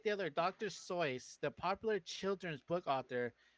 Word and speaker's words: Seuss: what because apparently you're everyone is pronouncing dr seuss's name wrong right like if you've always known it as dr seuss apparently it's dr soyuz i can see it